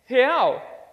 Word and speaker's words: real: So it's he, but without the e sound. So 1, 2, 3, he. Perfect. And now let's say ow. It's like ouch, but without the ch sound. So it's ow. 1, 2, 3. Perfect. So he. Ow. He. Ow. He. Ow. Real. Real. Perfect.